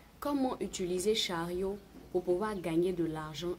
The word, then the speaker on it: Chariow: Donc chariot s'écrit C H A R I O W.